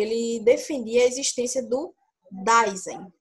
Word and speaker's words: Dasein: O Heidegger, ele defendia a existência do Dasein, ou Dasein. É mais ou menos essa pronúncia, que significa o ser aí, ou ser aí.